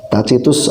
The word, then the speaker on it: Tacitus: Tacitus atau Tacitus bacanya ya, itu dikenal sebagai sejarawan yang hebat untuk Roma kuno ya.